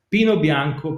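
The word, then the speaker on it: Pinot Bianco: particular chardonnay mostly planted pino bianco pinot neiro i'm using the italian pronunciation because yes pinot noir came from elsewhere but was adapted in the local soil so when a grape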